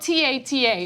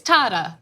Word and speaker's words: Tata: I mean, I remember the tape and I forgot that it was pronounced Tata, and that was the whole point of why that was funny.